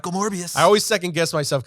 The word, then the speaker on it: Morbius: Uh Mobius I keep I always say Morbius Mobius backwards Morbius. I said it right the first time. Morbius.